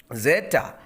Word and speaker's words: zeta: Zeta. Zeta is Z. It is like in English Z, zeta. So that is Z in pronunciation, za sound, za, zeta. Eta is like H in English.